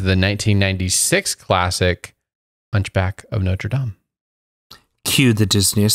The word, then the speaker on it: Notre Dame: here and correct you you're saying it wrong it's the hunchback of notre dame sorry i put i